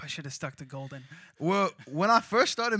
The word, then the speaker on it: Goldn: should have stuck to Golden well when I first started making music My Name literally was just golden like g o l d n spelled like my government name but whenever I told